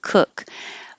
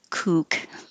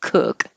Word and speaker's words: cook: i want you to remember that it's not kook it's cook cook soup with the with the